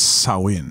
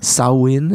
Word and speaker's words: Samhain: I think it's Samhain. Samhain. Yeah. I don't think the M is pronounced at all.